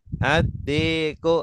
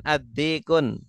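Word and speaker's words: الدِّيكُ: Adikun adiku adikun adiku addiku. Awas jangan addikun. Oh enggak boleh adik. Jangan pakai tanwin. Enggak boleh tanwin.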